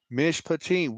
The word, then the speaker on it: Mishpatim: the Bible right doing the right thing so miss patine if you learn if you're watching this video learn you can learn the Hebrew Mitch patine what I wrote there in the comment section that's how you pronounce it that's how I enunciate it that's